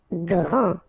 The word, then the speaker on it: grand: Grand. Final D not pronounced.